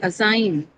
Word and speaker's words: assign: This is a verb second syllable because the first syllable is anyway it's awah. So you it will not participate and also it's a dyelabic verb. So in dyelic verbs the stress is always on the second syllable.